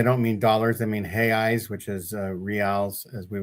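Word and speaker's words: reais: What are he eyes? So that's how they pronounce re A. We would say real, which is like the the king's money. And they pronounce it he eyes because like Joseph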